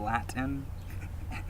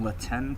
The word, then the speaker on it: Latin: language while they're saying latin and then they're missing all the things I just you know shelled out there and they're not even pronouncing latenan correctly they're calling it Latin like in the lab again hmm that's interesting